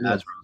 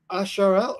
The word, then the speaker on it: Azrael: Pick up the Azrael sword.